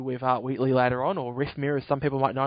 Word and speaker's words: Rythmear: Wheatley later on, or Rythmear, as some people might know him as well. That's right, isn't it? I said it right, didn't I? Rythmear? Yep, pretty much.